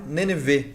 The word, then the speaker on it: Nenevê: Nosso amigo Miguel, nosso amigo Mário, Nenevê, é isso? Nenevê, pronunciei correto, né?